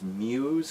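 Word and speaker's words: μ's: like you used but it's Muse cuz it's the Greek letter I don't anyway and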